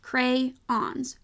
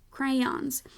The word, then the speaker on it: crayon: it would seem that the word should be pronounced crayons crayons and it should have two syllables because I see two